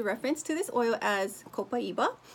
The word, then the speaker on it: Copaiba: So for that sake, I am going to reference to this oil as Copaiba, which is how they pronounce it in South America, where this oil is extracted from.